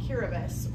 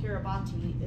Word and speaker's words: Kiribati: And I met this guy, he had been working for the Peace Corps in a place called Kiribati, or it's called Kiribati is the name, how they say it themselves.